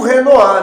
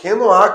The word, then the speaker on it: Renoir: Então tem o manê e o monet e o Renoá, né, gente? Renoá, que é o grande nome impressionista eh da história da arte. Reno se escreve Renoir.